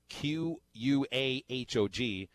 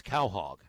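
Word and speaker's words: Quahog: by the way Micah tweets us the correct pronunciation of q ua h OG it's Cal hog I thought it was qua hog I actually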